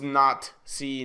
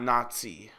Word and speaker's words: Not-See Party: brutal German regime where it's pronounced not C not Nazi yeah you know this